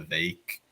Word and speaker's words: Vivek: night that I'm sure didn't he say that you pronounce his name vake like cake or something no idea I thought he said that I'm pretty sure it is pronounced VI because when I was at pork fest over the summer a bunch of his campaign people were there and they kept having events called Shake with vake which only makes sense as a name for an event if it's pronounced vake yeah because all vog